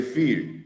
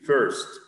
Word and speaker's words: first: The number first, don't say fear, first.